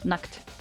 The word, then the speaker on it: nackt: Nacht is night. Nackt is naked. Nacht and nackt. It's different. There's a difference.